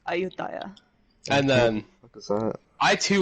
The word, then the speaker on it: Ayutthaya: aut a Ayodhya okay that's the Thai pronunciation if there may be it's weird in the game I don't know but if you go to Thailand that's ayutthaya and then I -